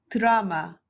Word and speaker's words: 드라마: So in this case, you should add U automatically under D. So we read it, drama, drama, drama.